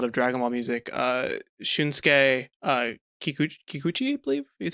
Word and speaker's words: Kikuchi: for a lot of Dragon Ball music, Shunsuke Kikuchi, I believe is how you say it. Yes. Kikuchi.